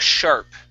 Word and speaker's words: sharp: I really need to look sharp. I really need to look sharp. Okay. Give me a P at the end of that word.